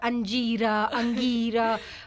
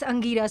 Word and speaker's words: Angira: somebody pronounced my name because i get this lord anjirah but in in the third second i'm like hey just a moment it's angira so it was very